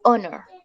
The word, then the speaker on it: honor: O honor, ¿listo?